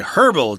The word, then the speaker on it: herbal: You'll also hear people say herbal tea. That's equally correct. Although but they're British, probably. Yeah, Americans tend to not pronounce the H there.